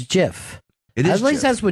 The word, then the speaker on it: GIF: me listen up music it's pronounced jiff not come back you